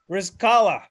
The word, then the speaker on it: Rizqallah: yeah of course yeah all right well william rizzkala i said your name ryan right you did